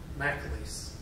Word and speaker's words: McLeese: His name was Henry McLeese, and that's the way he pronounced his name. He called himself McLeese, but I guess that's not good enough. McLeese.